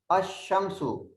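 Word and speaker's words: الشمس: And the second category is solar letters, sun letters, ash-shamsu. There is a tashdid on sheen and lam is a silent. Lam is a silent. We don't pronounce the lam.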